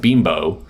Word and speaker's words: Bimbo: It's supposed to be pronounced bimbo.